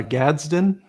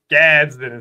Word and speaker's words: Gadsden: Uh Gaden. Gadsden. So it's not Gaden.